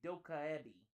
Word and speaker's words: dokkaebi: It's pronounced a dokkaebi.